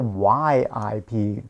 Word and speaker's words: Ip: The name Ip is not pronounced with the IP, actually, not Ip in Cantonese. I don't know why they did that. It's with the YIP to pronounce it correctly is Yip.